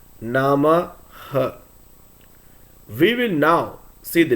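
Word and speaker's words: नमः: For example, a sentence ending with Nama and Visargam will be pronounced as Namaha.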